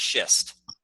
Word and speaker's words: schist: Yeah, it's pronounced schist.